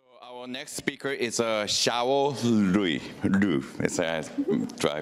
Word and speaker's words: Xiao Liu: Our next speaker is Xiao Liu. Do I pronounce correct?